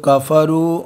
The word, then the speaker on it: كفروا: والذين كفروا والذين كفروا وكذبوا बच्चों देखो काफरू और कज़बू दोनों के आखिर में एक एक अलिफ है। ये अलिफ साइलेंट होता है हमेशा, ये जमा की निशानी के लिए आता है, हमेशा इसकी निशानी ये